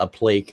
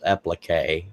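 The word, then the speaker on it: appliqué: It was not a plique, it was applique, whatever the heck that means. I've never heard the term, but that Carl was correcting how I pronounced it.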